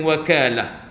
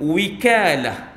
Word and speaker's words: wakalah: Ialah perkataan wakalah boleh dibaca dengan wakalah. Ataupun wikalah. Dua wajah, dua cara baca.